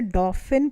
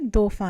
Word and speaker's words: Dauphin: दोफा है, अगर आप इंग्लिश में पढ़ेंगे तो इसे डॉफिन पढ़ेंगे, लेकिन फ्रेंच में ये दोफा है। तो क्योंकि ये फ्रेंच कहानी है, ये फ्रांस में हो रहा है, तो हम फ्रेंच की तरह प्रोनाउंस कर रहे हैं।